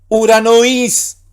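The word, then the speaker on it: οὐρανοῖς: ¿Por qué dije uranois? Porque Omicron con Y dijimos que ¿qué pasa? Omicron Y es una sola vocal, un solo sonido vocálico que es U, no es O, sino U.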